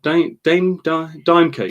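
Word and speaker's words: Daim: Dime cake.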